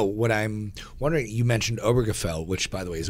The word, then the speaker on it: Obergefell: jokes um no what i'm wondering you mentioned obergefell which by the way is a word i can i am amazed i just pronounced it properly obergefell um sounds like yiddish